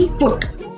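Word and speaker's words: put: ऐसे नहीं बोला जाता जैसे कि बी यू टी बट सी यू टी कट एंड पी यू यू टी पुट आपको समझ में आया बी यू टी बट और सी यू टी कट में अ की आवाज आ रही है यू की जगह अ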